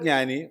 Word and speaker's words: ജ്ഞാനി: കാര്യം എന്നിട്ടും തെറ്റിക്കും ഉദാഹരണം പറഞ്ഞാൽ ഉത്തരഭാരതത്തിലെ ഏറ്റവും വലിയ ജ്ഞാനിക്ക് പോലും ജ്ഞാനി എന്ന് പറയാൻ അറിയില്ല ജ്ഞാനി എന്നാ പറയുക എഴുത ജ്ഞാനി പറയുക ജ്ഞാനി അറിയില്ല അതിനേക്കാൾ നേരം പോക്ക് ഒരുപാടുണ്ട്